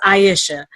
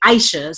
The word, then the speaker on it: Aisha: name named me now she says aisha but living in Philly they say Aisha's so I pronounce it two ways and of course